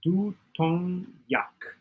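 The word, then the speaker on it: 두통약: Here's how to pronounce it correctly. Du, with a clear D sound. Tong, pronounced like tong. Yak. So 두통 약. Yes, that's a good way to remember it phonetically. To do sounds like do. Tong sounds like tongue. Yak yak sounds like yuck.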